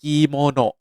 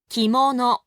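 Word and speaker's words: きもの: คน รู้ จัก เนาะ ชุด กีโมโน อ่าน แบบ ไทย ๆ กีโมโน ภาษา ญี่ปุ่น ออก เสียง ให้ ถูก ต้อง ต้อง เป็น แบบ นี้ ครับ คิ โมโนะ คิ โมโนะ คิ โมโนะ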